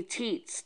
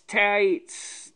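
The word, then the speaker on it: Taitz: Oh, that's Orly Teats. Tights. That's what it's pronounced. Orly Tights.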